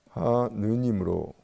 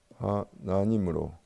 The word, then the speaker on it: 하나님: 그래서 지역에 따라서는 하느님으로 발음하기도 하고 하나님으로 발음하기도 하는데, 우리 개신교에서는 이렇게 발음하는 것이 유의신의 의미도 부차적으로 가질 수가 있으니까 이 하느님보다 하나님을 택했다. 이렇게 우리가 생각을 해야 합니다.